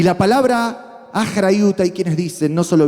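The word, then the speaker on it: אחריות: Achrayut, achrayut.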